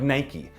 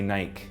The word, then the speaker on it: Nike: Or Nike, you want a name like Nike. It's mispronounced in most countries around the world. Most people say Nike.